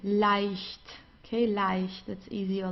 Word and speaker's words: leicht: just as with IE, we pronounce it as I, leicht.